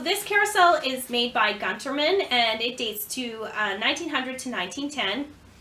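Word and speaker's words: Günthermann: So this carousel is made by Gunterman, and it dates to 1900 to 1910. The Gunterman Toy Company was founded by Siegfried Gunterman in 1826 in Nuremberg, Germany. I've also heard it pronounced as Guntherman.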